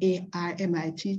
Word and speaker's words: hermit: hermit you could Define a r m i t t because hermit was produced pronounced in those days as armit okay so that kind